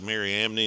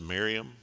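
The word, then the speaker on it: Mariamne: is it looks like miriam knee and some people pronounce it that way it's typically usually the end is silent and it just pronounced miriam and so she's actually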